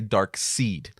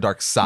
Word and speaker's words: Darkseid: seen an amount of people that say dark seed instead of Darkseid yeah I've heard people